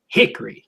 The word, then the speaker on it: Hickory: talks about like well he always calls it Hickory you have to emphasize the first syllable hi hick yeah and uh he